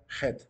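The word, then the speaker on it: חית: el curso de hebreo él pronunciaba la letra Head no decía Cheto decía Jet para la letra de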